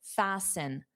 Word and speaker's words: fasten: To fasten, the T is silent.